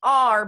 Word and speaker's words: are: r and it makes the a r blend makes that r sound and then the letter at the end the e you don't hear it it's just a silent e it's just hanging out